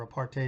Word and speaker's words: apartheid: used to say well one rhymes with white and the other why rhymes with hate so Part A he rhymes with hate and apartheid rhymes with white thank god apartheid is